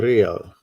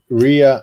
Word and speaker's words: Rea: Hi, Rea and the Real. Hi there. Yes. Buonasera, Hello, Rhea. How are you? Rea. The correct pronounce is Rea. Yes. The correct pronounce is area. Rea. It seems like Ria and the Real.